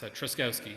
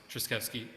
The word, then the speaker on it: Truszkowski: So it says Drozkowski, which is how the Japanese pronounce Truszkowski, which is not how the Poles, incidentally, pronounce Truszkowski. The Japanese are actually a little closer to the correct pronunciation.